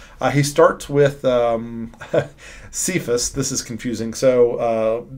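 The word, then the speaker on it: Cephas: Kaaya um and so Paul here just translates Kaaya straight into Greek and calls him kayas and then we of course pronounce it sephus right because we pronounce c as an S no big deal he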